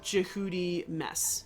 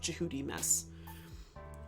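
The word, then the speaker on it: Djehutymes: then you have uh jihudi mess which is tutmos. Tutmos is a ro greek or helanized version of jihudi mess.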